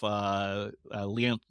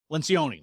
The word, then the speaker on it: Lencioni: Leoncini, I can't remember how to Yep, pronounce his name. Lencioni.